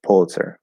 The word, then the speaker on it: Pulitzer: So either way, but does the first syllable rhyme with pull or pew? I would want to say pew for that. Maybe poo, pew, pew. Yeah, I say pew. Yeah, it'd be pull. Sounds exactly like pull.